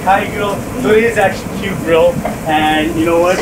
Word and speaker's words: KYU GRILL: right and you see i thought it was pronounced caillou girl but it's actually pronounced yeah you know girl